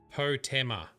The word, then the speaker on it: Potema: I think Potema is how you pronounce it. Potema.